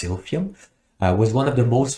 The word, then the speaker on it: Silphium: I hope I'm pronouncing correctly. I believe it's pronounced Silphium.